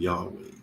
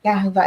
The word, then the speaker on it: Yahweh: He's the every breath that we take in Yahweh and exhale. WH. Okay. It's like Yahweh, like you say his name is Yah, like when you said it's Yahweh, but there's no vowels in Hebrew.